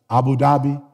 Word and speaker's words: Abu Dhabi: Abu Dhabi.